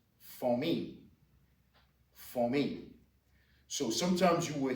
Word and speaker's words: famille: We're going to start off today with family, which is pronounced famille.